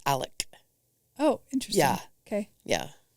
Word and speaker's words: Alec: good to know and the dad it's Alex but it's Alec oh interesting yeah okay